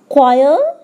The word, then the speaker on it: choir: Second rule, a silent H often follows the letters C or R. As examples, choir and rhyme.